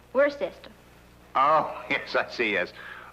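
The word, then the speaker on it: Worcester: else too doc but it's spelled w r c e s t e r where sister oh yes I see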